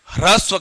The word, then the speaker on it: ह्रस्व: इसे आपको हस्व हस्व नहीं करना है, ह्रस्व करना है। क्या बोलना है, ह्रस्व। ये सभी उच्चारण को समझना है, ह्रस्व।